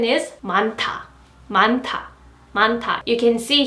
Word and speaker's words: 많다: A lot of, and its pronunciation is 많다, 많다, 많다.